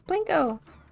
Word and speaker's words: Plinko: Pronounce it like you're trying to say white in Spanish. Blanco. It's Plinko. With a P instead of a B.